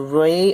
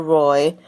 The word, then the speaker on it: Rai: I'm going to say his name is either Ray or Rai. It's spelled R-A-I. People pronounce it differently, so I'm going to say Ray.